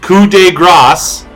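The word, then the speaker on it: coup de grâce: Grasse coup de Grasse pronounced coup de Grasse in parentheses this is a copy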